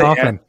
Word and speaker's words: often: Well, your favorite word to say is often, but you mispronounce it. This is why it's not my favorite word to say, because I try to pronounce all of the letters.